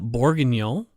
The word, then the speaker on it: Bourguignon: Bourguignon from Norfolk, Virginia. And I think that's like beef bourguignon.